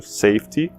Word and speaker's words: safety: Safety, que são quantas sílabas essa palavra? São 2 ou 3 sílabas? São 2. Porque safe é uma sílaba.